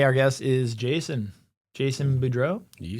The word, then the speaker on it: Boudreau: Jason Budro.